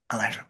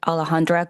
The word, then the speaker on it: Alejandra: Um Alandra, please. Um the pronunciation of my name is Alejandra.